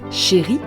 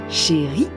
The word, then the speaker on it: chérie: It doesn't change the pronunciation. It is still pronounced chérie, chérie, chérie, and it means